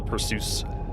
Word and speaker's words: Perseus: I call it the Perseus. That's how you spell it. That's how to pronounce it.